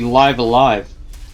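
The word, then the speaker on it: Live A Live: really early on because I didn't know how it was supposed to be pronounced until well they and that had the announcement trailer for The Switch version I went oh it was supposed to be live alive I suppose that makes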